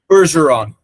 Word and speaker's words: Bergeron: How the hell do you pronounce his last name? Berseron.